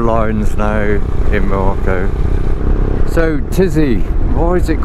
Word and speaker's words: Tizi: now in Morocco so tizzy why is it called tizzy like the tizian tests and a tizzy and Tikka but all I can it rhymes with Dizzy and with all the